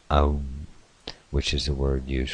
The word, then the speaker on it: Om: Pronounced Om, which is the word used for calling or to symbolize the great God.